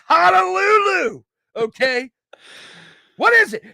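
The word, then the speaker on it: Hajrullahu: Ha. Ru. La. Who. Put them all together. Harulahu.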